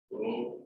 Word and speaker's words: rho: It is pronounced as rho.